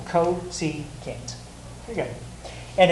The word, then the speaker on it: cosecant: Oh, cosecant. Exactly, each syllable, cosecant.